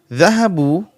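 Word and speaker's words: ذهبوا: The alif after the waw is not pronounced.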